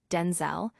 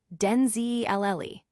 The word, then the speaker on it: Denzel: Washington revealed that his name is not pronounced Denzel, but rather Denzee Lle, a change initiated by his mother to distinguish him from his father.